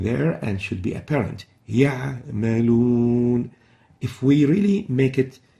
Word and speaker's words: يعملون: The right way of pronouncing it is يعملون.